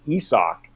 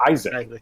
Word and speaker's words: Isaac: we all learned that bunga's first name is pronounced he sock and not Isaac and literally you know